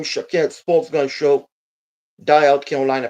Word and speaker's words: Shaked: My name is Shaked. That is how you can pronounce my name.